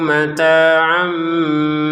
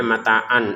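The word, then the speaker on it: مَتَاعًا: Ainnya di sini tanwin sebenarnya mata an an bertemu sama ba. Maka dibacanya di sini ada mim kecil. Artinya jangan lagi dibaca tanwin mataan tapi dibacanya mata amata am. Jadi tanwinnya berubah menjadi mim.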